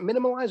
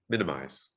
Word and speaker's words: minimize: impact on children right is it minimalize or minimize minimize you don't need to stick an extra syllable in there do you call them